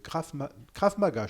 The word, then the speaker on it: Krav Maga: Alors ce soir, nous allons faire connaissance avec toi et ton rôle au sein du club de Krav Maga. Je prononce bien Krav Maga?